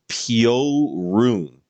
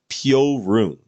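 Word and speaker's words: Piorun: Polish person originally said that it's correctly uh pronounced Pio room so I need to get that right Pio rune there was a Polish person in my chat who said that it's pronounced peel roon I gotta get I gotta get that straight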